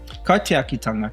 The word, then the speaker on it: kaitiakitanga: Kaitiakitanga. So how we pronounce it?